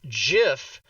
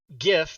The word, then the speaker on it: GIF: tube right Xavier DeHaven it is pronounced the same way as the peanut butter exactly so says the